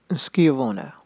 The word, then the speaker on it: Schiavona: I've heard this pronounced different ways. Schiavona, I've heard sword makers call it that in videos, but it seems to be with a K sound. Schiavona, or something like that,